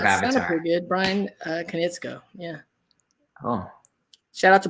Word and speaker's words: Konietzko: Brian Konietzko.